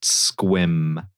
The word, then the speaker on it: Sequim: Um, and then and then minute one of joining the call, I was assaulted with the knowledge that it's pronounced squim.